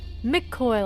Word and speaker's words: McCoy: McCoy, like McDonald's, but koi fish. But spelled like koi, like being koi.